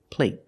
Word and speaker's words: plate: is longer here play compared with plate plate the stop T makes a vowel shorter they're the same vowel they're the long a but the stop T at the end makes the long a a little shorter let's listen again play